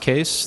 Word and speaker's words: Kees: quick intro um I'm case uh it's pronounced case the spelling is Dutch and it's my grandfather's